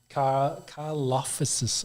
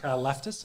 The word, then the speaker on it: Karlaftis: I do like George Karlaftis, I think is how you say his name. I did have a look at this guy's name before. I thought both of us might struggle with it. I couldn't find a pronunciation. Karlaftis out of Purdue. That's what I'm going to go with.